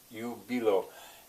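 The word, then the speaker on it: jubilo: first in you below when you pronounce latin an i has a sound of e this is ubilo in sweet jubilation in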